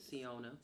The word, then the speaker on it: Siona: Alright, so this is, how do you pronounce her name? Like Siona.